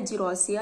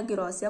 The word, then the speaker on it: Gerousia: पहला है डुओकिंगशिप, दूसरा है जिरोसिया या गिरोसिया, कुछ भी आप प्रोनाउंसिएट करिए।